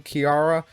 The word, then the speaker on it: Kirara: I might be saying her name wrong, Kirara. I know you're supposed to roll the R, but even though I'm Hispanic, I'm terrible at rolling my R's, so sorry for missing